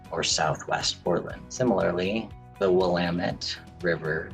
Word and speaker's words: Willamette: It's got dozens of pronunciations that are not the way it's pronounced. And people will spot that you're relocated right away when you pronounce it wrong.